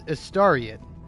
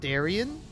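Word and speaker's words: Astarion: name is not aaran actually it's that it's estaran like that's how you say his name but when you read it you might think it's aarian you know like a stare you don't say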